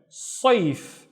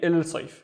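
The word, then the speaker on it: الصيف: a sun letter, and we need to replace il with this letter. So the first syllable would be is, and then sayf, sayf, which means the summer, sayf. And I would not say il sayf.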